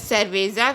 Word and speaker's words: cerveza: And if C is used with U, O and A, it is pronounced as K, just like cuchara. Here C is used with U, so it is pronounced as cuchara, which means the spoon in Spanish. Here C is used with E, it is pronounced as cerveza, which means the beer in Spanish.